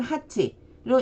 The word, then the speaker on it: 八: 8로 읽을 때에는 하치로 읽어주시면 됩니다.